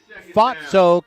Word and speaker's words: Fausto: Well, he pronounces his last name Fatso, kind of like it sounds like if you're in London and there's someone who makes fun of those who are gravitationally challenged.